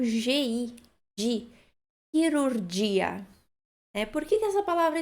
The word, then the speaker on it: chirurgia: Cirurgia, que se escreve bem parecido, só que em italiano a gente acrescenta um H. E aí fica o som chirurgia, ok?